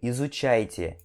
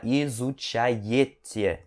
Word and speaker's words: изучаете: E esse I aqui, esse E, na verdade, essa letra aqui, ela vai ter som de I, tá? Então você pronuncia Вы изучаете. Não precisa falar изучаете, que seria o som normal dessa letra, tá?